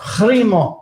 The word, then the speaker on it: Primo: Primo. Primo. Roll that R, Jay. Roll that R. Primo.